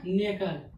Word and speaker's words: knuckle: KNUCKLE, K के बाद N और N के बाद U क्या अपना वॉवेल्स है तो K के बाद N आया, N के बाद U आया तो K हो गया क्या साइलेंट हो गया K। ठीक, तो क्या हो गया नेकल NUCKLE नेकल मीन्स क्या हो गया जोड़।